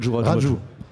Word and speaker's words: Raju: Raju. Raju. C'est un U, mais ça se prononce où en fait?